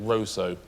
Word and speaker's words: Russo: not a pointless answer they actually pronounce it Roso spell Russo or Roso Roso Roso if you're a Dominican that's what You' call it Vanessa hi you're